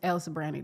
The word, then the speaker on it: El Sobrante: Can you spell it? It's Sobrante. Sobrante. But it's El Sobrante to us.